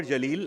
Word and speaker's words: Jaleel: allele and I'm like can you say Jam do you know what Jam is Jam is with a J my name is with a J how can it be syllable anyway I'm Jalil I work with Linda's